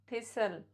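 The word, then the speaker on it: thistle: T silent before L, या जब किसी वर्ड के लास्ट में TEN होता है तो भी टी साइलेंट माना जाता है. या जब TCH का कॉम्बिनेशन होता है तो भी टी साइलेंट होता है.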